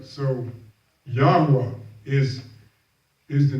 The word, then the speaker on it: Yahweh: those 4 letters, so when they put the vowel points in place, will help you pronounce what the actual name was. So Yahweh is the name of